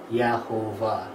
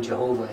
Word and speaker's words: Jehovah: vowels for Adonai and if you read that phonetically it says Yahovah. Which isn't the way that Yod Heh Vav Heh is pronounced in Jewish scripture, but that's how we get the name Jehovah in English.